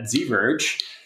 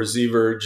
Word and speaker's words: Ziverge: I like your alternate pronunciations, but I think it's like diverge. So I'm guessing ZIVerge. Oh, but you know, maybe right. ZVerge, you do that, like Scala Z.